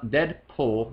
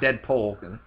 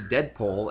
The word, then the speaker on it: Deadpool: the proposed Deadpool fil Deadpool let me let me try deadpol pool thank you not dead pole we could start a